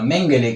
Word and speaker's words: Mengele: menciono en un principio menguele Pero por otro lado menciono a menguele que es su verdadera pronunciación en alemán vamos a hablar sobre